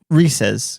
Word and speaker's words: Reese's: Reese's, because it rhymes with pieces.